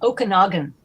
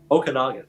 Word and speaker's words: Okanagan: can learn from those the pronunciation is okanagan okanagan thank you yeah sure